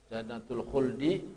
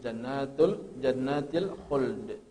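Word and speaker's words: جنة الخلد: Jannatul khuldi bacanya jannatil khuld.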